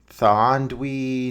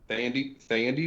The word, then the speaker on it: Thandie: Thandie Newton? Thandie Newton? Is that how you say it? Thank you. Yeah, there's no W in there for my understanding like you have here in the script, brother.